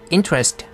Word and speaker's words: interest: interest 할 때는 stress스가 앞에 있기 때문에 interest 하고 있습니다.